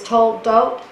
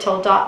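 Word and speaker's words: תולדות: word generation, Hebrew is toldot. I think I said toldot last time. Toldot is a little more correct in my pronunciation.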